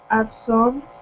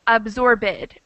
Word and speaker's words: absorbed: kind of gets stuck so a lot of people want to say absorb it or bribe it or disturb it but that's difficult to understand and not the correct way to pronounce so she did a